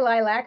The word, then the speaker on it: lilac: They pronounce the A-C, awk, as opposed to ack.